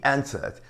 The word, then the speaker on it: answer: Answer é a primeira.